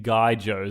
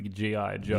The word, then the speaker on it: G.I. Joes: Action Man, the greatest hero of them all, is much like the Guy Joes. I think it's pronounced the G.I. Joes.